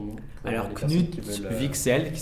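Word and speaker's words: Wicksell: épl le son nom pour personnes qui veent vixel qui s'écrit avec un W W I c K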